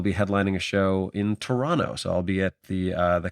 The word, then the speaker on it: Toronto: broadcaster and anchor, etc., calls it Toronto with that hard second T. I really think it's just like an American versus Canadian pronunciation thing. I think it mostly comes down to that.